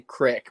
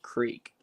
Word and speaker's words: creek: of whenever people say like I say crick, but it's really creek. Yeah. Mhm. People get on me about that all the time. Like, it's not creek. Oh no! Don't let people tell you wrong. It's a crick.